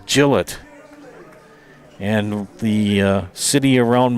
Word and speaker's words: Gillett: Most people think it's Gillette. It's No, it's Gillette.